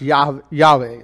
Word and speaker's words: Yahweh: Greek transcripts also indicate that Yahweh should be pronounced Yahweh like I'm saying it Yahweh basically it's interesting because the Hebrews don't like